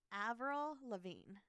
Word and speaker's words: Avril Lavigne: go on the list now I'm nervous uh Avril Lavigne oh I said it right you just said it right yeah right I said it slowly though yeah okay so Avril Lavigne um she supposedly was replaced by a woman